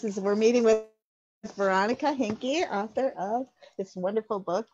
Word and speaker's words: Hinke: Now, do I say your last name, Hink? Hinke. Okay. Yeah.